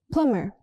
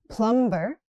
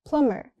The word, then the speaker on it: plumber: Plumber. The B is silent. Not plumber. It's plumber.